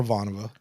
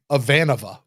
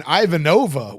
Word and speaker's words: Ivanova: okay I think it's the fact that he pronounces her name avanova avanova that's the that's the worst that people want to get on us for saying Ivanova way back then you know like yeah she's